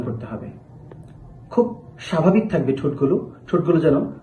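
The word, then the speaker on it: حاء: জিম এরপর হা হা এই হা হরফটি উচ্চারণের সময় হলক বা কণ্ঠনালীর মধ্যবর্তী স্থান থেকে একটু চাপ দিয়ে হা হা এভাবে উচ্চারণ করতে হবে।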